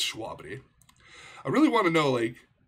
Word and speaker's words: Shwabadi: yeah again this is schwabadi it's it's schwabity i really want to